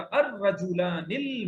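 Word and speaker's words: الرجلان: हाँ, अर पढ़ देंगे क्योंकि ये लाम के बाद आगे रे आ रहा है, रे हर्फ शमसी है तो लाम साइलेंट हो जाएगा। अर्रजुलानिल मुजतहिदानी बोलिए, अर्रजुलानिल मुज्तहिदानी।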